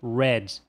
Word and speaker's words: read: A gente tem a pronúncia red. E se for escrito assim, trata-se da cor vermelho. Agora, se for escrito assim, trata-se do passado do verbo ler, que a gente acabou de ver.